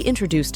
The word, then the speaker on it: introduce: updated system to us note that the word is stressed on the third syllable not on the first syllable as some may have mistaken it introduce introduce you to